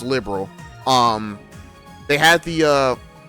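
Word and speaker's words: Liberl: So, I did find out it's not pronounced libero. It is pronounced liberal.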